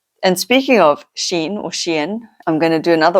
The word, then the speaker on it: Shein: up came a few videos, and they said Shein. So I'm right, and the teenager is wrong. So I had to chuckle about that because, teenagers are always right. And speaking of Shein, I'm going to do another order today.